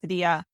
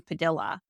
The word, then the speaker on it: Padilla: recent staff meeting, that the roots of the company do come from the original Spanish pronunciation of Padilla. But that the family did change their name to Americanize it to Padilla. got it. So yeah, and you're certainly not the first person to pronounce it that way. In fact, many native Spanish speakers that I interview have a really hard time with the current pronunciation.